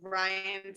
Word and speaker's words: Rian: Because my name is spelled R-I-A-N, and so it looks like rain in print. And so oftentimes people misunderstand my name when they read it.